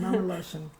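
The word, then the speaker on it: מאַמע־לשון: words, and one that I particularly love is Mameloshen. Am I saying it right? Like yes, mother tongue? Yeah, mother tongue, Mameloshen.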